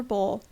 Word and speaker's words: bowl: Proctor's cougar, the gift of the tennis cabinet, who also gave us a beautiful silver bowl, which is always lovingly pronounced to rhyme with owl, because that was the